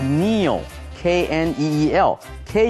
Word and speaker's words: kneel: 发音，K 不发音。其他的例子，比如说 know，知道事情的 know，K 不发音。打结的 not，K-N-O-T，K 也不发音。跪下来的 kneel，K-N-E-E-L，K 也是不发音的，这个要特别的小心。接下来学动词 apologize，道歉 apologize。I need to apologize to you for something。为了某件事，我必须要跟你来说道歉。比如说呢，The teacher apologized to the students for being late。